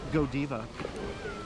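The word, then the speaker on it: Godiva: as juan carlos says go diva that's how it's pronounced yeah remember it's french so yeah you can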